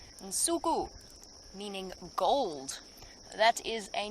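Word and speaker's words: Nsuku: And so Msuku is how we say it. And that's the Xitsonga word, and it's spelt.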